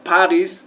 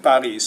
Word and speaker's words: Paris: like when you say Paris in English in French Paris so you don't last you don't pronounce the last consonant but in English you